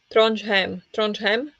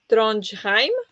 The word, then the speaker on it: Trondheim: So it was Trondheim, but the pronunciation says him.